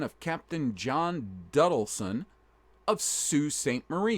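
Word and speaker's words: Sault Ste. Marie: Captain John duton of Sue St Marie yes it's spelled soul but it's called Sue St Marie or they just call it the Sue o Michigan Sue St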